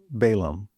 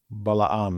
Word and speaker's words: Balaam: So Balak sends messengers to Balaam. Balaam is probably how you pronounce it in Hebrew, but we'll call him Balaam for English speakers.